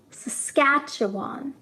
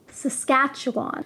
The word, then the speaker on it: Saskatchewan: Saskatchewan is probably the most difficult province name to pronounce. Saskatchewan. Saskatchewan.